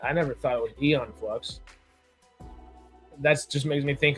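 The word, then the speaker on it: Æon Flux: The a is silent, I guess.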